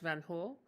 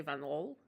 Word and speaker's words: Van Hool: is a Dutch company, sometimes pronounced Van Hool, like Oel instead of Ol, but I think the Dutch say Van Ol.